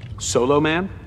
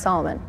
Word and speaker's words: Solomon: lack the wisdom of Soloman yeah and it's pronounced Solomon she's